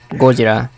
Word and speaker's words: Gojira: No, it's just the movie is just the movie's title is spelled that way, but it's just Gojira.